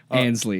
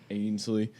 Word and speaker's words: Ansley: Ansley, okay. excuse me. Yeah, Ainsley. So, okay. he just thinks there's an I in my name and there's not.